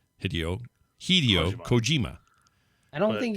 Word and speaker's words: Hideo: There is no short I sound in Japanese. The I is always pronounced with a long E sound.